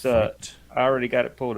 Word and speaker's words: Feit: How do you pronounce that? Fight. It's Fight.